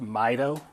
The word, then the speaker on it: MITO: They did something called, and it's an acronym, it's MITO, it's pronounced MITO, and they would take off 15 seconds apart.